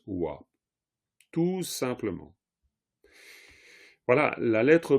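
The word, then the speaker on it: བ: Quand cette lettre pas est à la fin d'un mot, elle se prononce wa.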